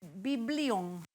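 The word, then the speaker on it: βιβλίον: Y es la misma palabra en hebreo, se dice biblion.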